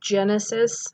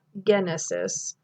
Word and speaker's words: genesis: When we have GE, that word would be genesis, not genesis.